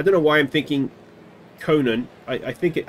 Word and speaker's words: Conine: pitch I think it's conine I think he pronounces it I don't know why I'm thinking Conan I I think it I think he pronounces it co9 if I remember correctly anyway whatever his name